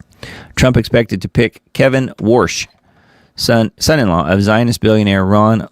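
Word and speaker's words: Warsh: New Fed chair, Kevin Worsh. W A R S H. No, that's not Wash.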